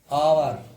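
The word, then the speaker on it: hour: एच के बाद अगर स्वर है, कोई भी वर्ड अगर एच से शुरू हो रहा है उसके बाद क्या होगा, स्वर होगा, तो फिर एच क्या रहेगा तुम्हारा, साइलेंट रहेगा। ठीक है, एग्जांपल देखिए, आवर, ईयर, है ना, ऑनर, ऑनेस्ट। ठीक है, तो इनमें सब में कहा रही एच तुम्हारी साइलेंट रही है।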